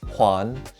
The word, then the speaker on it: 环: This character is pronounced huan and means ring and encircle.